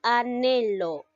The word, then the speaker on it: anhelo: la d junto a él o no se pronuncia de esa manera si no llega a ser anhelo lo mismo pasa con a la ja te